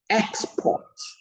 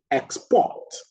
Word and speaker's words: export: Export, a noun, the stress is on the first syllable. Export, the verb, the stress is on the second syllable.